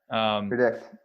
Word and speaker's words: PredIQt: And by the way, for people who might be listening to the podcast, it's spelled PREDIQT. So predict.